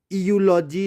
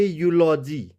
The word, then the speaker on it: eulogy: Rule number 9 है, जब किसी शब्द में ई के बाद यू आए, ई के बाद क्या आए, यू आए, तो ई यू को यू पढ़ते हैं। जैसे EULOGY, इसको यूलॉजी नहीं पढ़ेंगे, इसको हम पढ़ेंगे यूलॉजी, यूलॉजी।